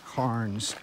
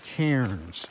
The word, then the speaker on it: cairn: i've been calling them carns somebody corrected me the other day i said no they're called cairns like a single syllable like right here there's a cairn not a karen a cairn i refer to white